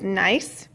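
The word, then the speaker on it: gneiss: first one this is nice I the G is silent here is how you pronounce it is nice and you can see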